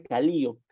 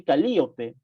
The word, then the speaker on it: Calíope: Porque ellos no pronuncian de por sí Calíope, sino que hacen una diferente pronunciación al nombre, ¿no? Como que en vez de la E, sonase como una vocal, como la vocal I, ¿no?